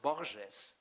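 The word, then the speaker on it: Borges: father's insisted in happiness name pronounced boorishness by the way the Portuguese way and not the Spanish way because he explained to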